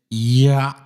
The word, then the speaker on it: Yahweh: I think, fam, the pronunciation is Yahweh, Yahweh, like that. Yahweh. It's almost like a silent A. Like, for example, when you breathe, like that, you know.